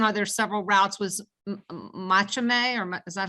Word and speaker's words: Machame: Was Machame, or is that how you Yep, pronounce it? Just the Machame.